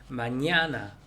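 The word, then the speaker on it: mañana: 마냐나 할 때 두 번째 N에다가 물결 표시. 마냐나. 우리말에 B 발음이 되는 거, 그다음 빼라고 하죠.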